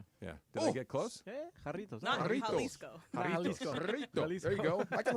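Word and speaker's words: Jarritos: say it again yeah did they get close haritos there you go I can roll see there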